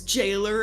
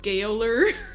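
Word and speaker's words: gaoler: uh g a o l e r is Jailer and not giler yeah you telling me to pronounce j but spell g a o l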